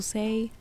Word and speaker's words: SAI: super basic introduction to pain to say or pain to decide that's the way i pronounce it i'm sorry and the